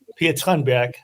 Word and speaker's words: Per Tranbjerg: Per Tranbjerg. Yeah. Per Tranbjerg. Yeah. No, Michael was pretty good. The the TG is sh.